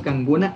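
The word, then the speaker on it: kankuna: Eso, Canguna. El, aquí el can. Canguna, eso. K se va a pronunciar como G de gato.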